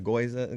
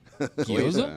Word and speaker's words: gyoza: The goiza getting a little. No wasabi. gyoza.